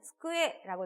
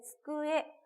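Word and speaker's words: つくえ: 이 쿠도 함께 들어가 있기 때문에 스쿠에 굉장히 많은 학습자분들이 어려워하시는 단어이거든요. 쭈꾸에가 되거나 쭈꾸에 막 이렇게 강한 액센트가 되시기도 하시는데요. 이 쭈꾸에 조금 오히려 힘을 빼고 이렇게 편안하게 발음을 해주시는 게 또 좋게 발음을 할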